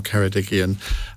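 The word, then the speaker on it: Ceredigion: and Ben Lake the PED Cy MP for kedigian um have I pronounced that right perfectly now ju just answer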